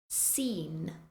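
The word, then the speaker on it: scene: we have muscle muscle scen scen scissors scissors Ascend Ascend as with the words before all of these words have a c in the spelling but you do not pronounce it next we have a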